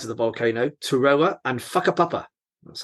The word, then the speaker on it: Whakapapa: And there's 2 separate skiing areas on opposite sides of the volcano, Turoa and Whakapapa. That's how you pronounce that.